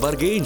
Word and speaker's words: Bergen: और इस विशाल देश का एक छोटा सा हिस्सा है बर्गेन, जो जुबान फिसलने पर अक्सर बर्गर कह दिया जाता है, लेकिन सही प्रोनाउंसिएशन है बर्गेन।